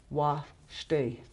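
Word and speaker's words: washte: that's, see, this is wa shte. Wa shte. Wa shte. That is the one that's accented. Second. The second syllable is always accented.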